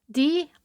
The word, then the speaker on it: dreich: This week's word is dreich. D-R-E-I-C-H. Pronounced dreich.